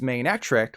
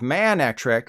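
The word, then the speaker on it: Manectric: and the bait cat is maneatric like for my next trick instead of Man actress like oh man I really hope flagon gets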